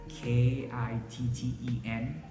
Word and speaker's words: kitten: For example, we have this word KITTEN, kitten, kitten. See, I'm not popping my T sound or I'm not aspirating the sound. It's held, kitten.